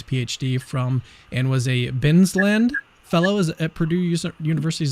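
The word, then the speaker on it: Bilsland: He recently received his PhD from and was a Binsland Fellow at Purdue University. Is that the right? Is that the right way to say that? Billsland, I think is the pronunciation.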